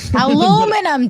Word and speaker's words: aluminium: Has aluminium pilled for God's sake. Aluminum, dumbass. I mean, technically it is spelled aluminium, but you say aluminum and and I mean, both can be right at the same time.